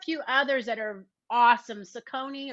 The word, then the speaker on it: Saucony: Saucony or Saucony, I believe is how that is pronounced.